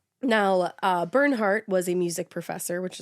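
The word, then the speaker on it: Bernhardt: Bernie has a hard name to say because his real name is Burnhart. Burnhart. I always want to pronounce the D like Burnhard.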